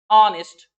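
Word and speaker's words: honest: जहां नहीं होगा वहां हमने आपको ये वर्ड्स लिखा दिए हैं, बता दिए, आवर, ऑनेस्ट, ऑनर, एयर।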